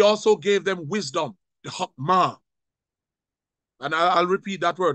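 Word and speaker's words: חכמה: But he also gave them wisdom, the hokmah. And I'll repeat that word because probably you probably didn't pick it up. It's pronounced hokmah.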